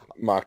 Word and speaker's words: Mach: He was the lead singer of a band, Mach Ado, which is spelled M-A-C-H, Mach, as in Mach Yep. Turbo. Mock Turbo.